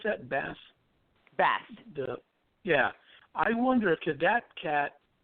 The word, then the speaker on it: Bast: How do you pronounce that? Bast.